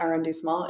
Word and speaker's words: arrondissement: I couldn't even tell you or remember what arrondissement it was in.